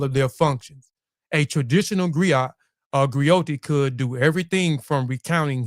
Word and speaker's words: griot: Griat and grioti is unique to West African. Uh a griat is a jolly profession encompass many roles. A griat pronounced grio a goi have been